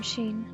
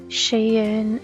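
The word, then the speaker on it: Shein: bunch of stuff from Sheen I looked up Googled it and that's how you pronounce it I know people will see Shane and she no Shane but Google says it's Sheen so I have to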